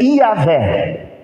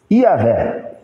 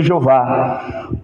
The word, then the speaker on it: Javé: O nome mais próximo que nós temos disso é Iavé. Iavé, né? Alguns chamam de Javé, outros chamam de Jeová.